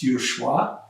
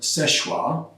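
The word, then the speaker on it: Seul Choix: to this place called szechua point now that's s-e-u-l c-h-i-x that's derived from french language which if you're pronouncing it in french my french isn't very good but it's uh schwa but all the locals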